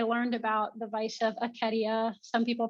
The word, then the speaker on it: acedia: Just like an example is I learned about the vice of acedia. Some people pronounce it acedia, and it means like a kind of sloth.